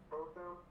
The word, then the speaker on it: Botham: Botham, Botham. Yeah, just say both of them, like Gotham, but both of them.